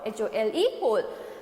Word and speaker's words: whole: When you pronounce this word, the W will be silent. You will only pronounce this word, HOLE, whole.